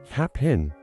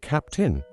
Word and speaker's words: Cap'n: I don't think most people would pronounce it cap in when they actually say it or while they type or write it out. Of course, they pronounce it capped in, and in some cases,